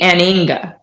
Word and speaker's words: anhinga: So the correct pronunciation would be not to pronounce the H. So it would be aninga.